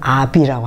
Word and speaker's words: habit: 프랑스어로 habit, 불어를 발음한 아비라고 하죠.